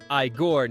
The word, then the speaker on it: Igor: As Igor, pronounced Iiggore naturally.